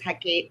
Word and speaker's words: Hecate: I pronounce it as Hecate, the Greek goddess associated with the crossroads, magic, the knight.